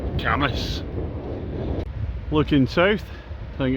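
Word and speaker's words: Cambois: It's spelled C A M B O I S. Now, for me being not too bad at French, I'd actually gone for camo. Other people might go for cam boys. It's actually camas.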